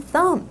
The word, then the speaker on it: thumb: There's a silent B in thumb. There's a silent B in thumb.